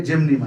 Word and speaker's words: Gymnema: ना आया मैं मैसेज करें, हम लिख के स्पेलिंग भेज देंगे। सेजेजियम जम्बोलम, ये जामुन से बनती है। इसके बाद एक दवाई है जेमनीमा, GYMNEMA, जेमनीमा, ये इंडियन, इसको गुड़ मार बूटी बोलते हैं इंडिया में।